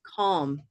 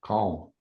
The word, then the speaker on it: calm: I think it's olive too. Calm. Do you? You don't hear it as Auburn? No. Calm. Interesting. Okay. Calm? No. It's not my dialect, so I was guessing that you were going to say Auburn. Oh, okay.